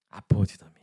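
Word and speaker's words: ἀποδίδωμι: 여분이 밭이라는 단어가 헬러 발음이 뭘까요? 바로 아포디돔입니다. 요거 처음 보신 거예요. 방금 전에 보셨어요? 방금 전에 보셨어요. 아포디도미.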